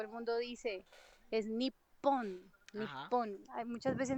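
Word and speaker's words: 日本: Nipon. Hay muchas veces no dicen nión, sino que dicen nipon. Mira, que es como si yo le pusiera doble p niip.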